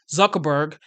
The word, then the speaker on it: Zuckerberg: even Mark Zer Mark Zuckerberg that's how you pronounce his name Mark Zuckerberg he is now aligning with the 47th the